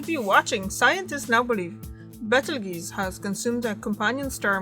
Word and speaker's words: Betelgeuse: I'm sorry, this is how it's pronounced, Betelgeuse. There's a G in it, juice. So it's not juice like fruit juice.